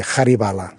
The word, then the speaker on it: Haribala: Passa que en català no pronuncia el H, però en hindi sí, Haribala. Haribala, amb una H al principi.